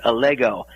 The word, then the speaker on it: Allego: You did have the name pronounced correctly. It's Allego.